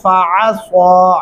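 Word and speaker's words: فعصى: فَعَصَىٰ عین گلے سے ادا کرنا ہے اور سواد کو سواد کی جگہ سے ادا کریں گے تو درست تلفظ بنے گا، فَعَصَىٰ فِرْعَوْنُ الرَّسُولَ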